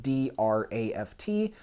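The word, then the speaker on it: draught: is called the draft we might spell it d-r-a-f-t or if you're british you might spell it d-r-a-u-g-h-t draft and you'll notice that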